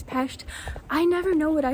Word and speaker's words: Pest: By the way, in Hungarian, the city Budapest is Budapest, and Pest is pronounced peshed.